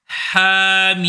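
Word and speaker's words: حم: temps MIM ha MIM attention tu ne marques pas d'arrêt entre le ha et le MIM ce ce n'est pas ha MIM non ne dis pas non plus he prononce ha ce n'est pas he ha ha him le cant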